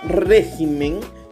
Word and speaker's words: régimen: espécimen lo mismo con esta palabra régimen tiene la mayor fuerza de voz en la sílaba tónica y no régimen pero si yo pluralizó